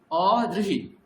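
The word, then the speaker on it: অদৃঃ: এখানে যেমন র এবং ই একসঙ্গে বলেছি, এইখানেও দ এবং রি একসঙ্গে, তাহলে দ্রি দ্রি। ঠিক আছে? অদৃহি, অদৃহি। তাহলে রিকারের উচ্চারণ কি হলো? অদৃহি। আর দয় রফলা হ্রস্বইকারের উচ্চারণ কি হলো? অদৃহি। বোঝা গেল দুটো জিনিস? অদৃহি, অদৃহি। যেমন অরিহি, অরিহি, অদৃহি আর অদৃহি, তিনটা আলাদা উচ্চারণ।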